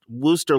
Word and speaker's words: Worcester: and by the way it's pronounced wooster like woof almost like woof of a dog so it's a little